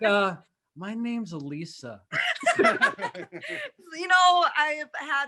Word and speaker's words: Elissa: possibly can man uh elisa and i'm pronouncing her name correctly this time it was so funny last time i called her did you tell evan last time i called you alyssa and she wouldn't she